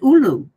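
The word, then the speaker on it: ʻulu: call it ukwa because we call it ulu so it also starts with you here and has two syllables it is ULU here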